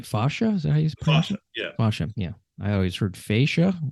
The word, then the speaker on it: fascia: a lot of times it's it's it's it's pronounced spaceship but it uh but fascia is is more the the traditional uh pronunciation